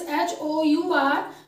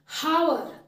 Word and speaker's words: hour: H is silent here. Okay. Its spelling is H-O-U-R, but you will not pronounce it like hour.